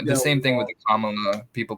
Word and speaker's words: Kamala: ways I call it Camila I know that's song it's Kam M just just just rhyme it with Mom mamala Kamala then then you got it down maybe you're right I